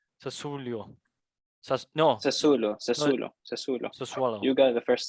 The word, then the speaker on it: Sassuolo: Salernitana and how do you pronounce this one? Sassuolo. Sassuolo. No, Sassuolo, no, Sassuolo. Sassuolo.